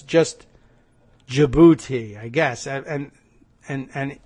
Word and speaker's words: Djibouti: Michael for telling me the D is silent so it's just Djibouti I guess and and